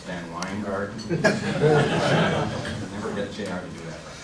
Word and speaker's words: VanWyngarden: nice in introduction Jr except my name is pronounced van weard never get JR to